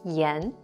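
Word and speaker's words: 炎: to treat inflammation and this character is pronounced the S yen Yen wooden want to learn Chinese fast get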